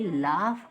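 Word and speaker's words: laugh: एल ए यू जी एच अब स ये लाफ कहां से बन जाता है भाई स्पेलिंग एफ से फ होता है लेकिन इसको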